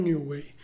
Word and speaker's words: Newey: figura di Adrian newway Anzi Adrian newway così si pronuncia Allora che cosa è